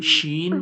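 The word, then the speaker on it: ش: জিম, শিন, ইয়া। Gym, scene, gym শিন, ইয়া। দেখুন আপনারা জিম যে বলছেন জিবের মাঝখান থেকে, শিন যে বলছেন জিবের মাঝখান থেকে, ইয়া যে বলছেন ওটাও জিবের মাঝখান থেকে উচ্চারণ হচ্ছে।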